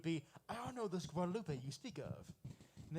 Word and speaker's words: Guadalupe: but I had a friend that he would get pissed off every time I would pronounce it Guadalupe. It was like, no, it's Guadalupe.